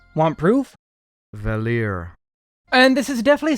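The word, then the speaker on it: Valere: Adventure as upand cominging Solstice Warriors yes it's pronounced valer want proof valer here and this is definitely something I got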